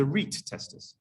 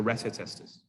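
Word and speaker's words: rete testis: epididymis and the testis is known as the reit testus r-e-t-e some people might pronounce it the recitaesters now at this stage they're transferred to the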